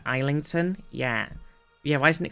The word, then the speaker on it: Islington: So the S is silent in Island, but suddenly it's not in Islington?